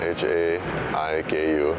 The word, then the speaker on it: Haiku: H-A-I-K-U. And we say it, although we spell it that way, we say haiku.